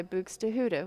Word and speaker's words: Buxtehude: it and it's by bahuda which is another one I spell I have to say funny to be able to spell Buck to hoodie but anyhow little tricks